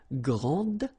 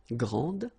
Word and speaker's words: grande: And regarding the feminine form, you will pronounce it grande. Okay, don't insist on the final but then pronounce this D, grande, and then exactly the same pronunciation, grande.